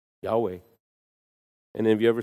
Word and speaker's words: Yahweh: YHWH. It's breathing sounds. Yahweh.